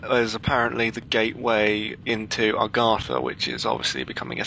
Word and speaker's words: Agartha: So A-G-A-R-T-H-A, but a lot of people think it's A-R-G-A-T-H-A, which it's not.